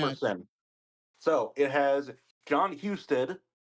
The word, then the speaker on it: Husted: So it has John Husted. It's pronounced Husted.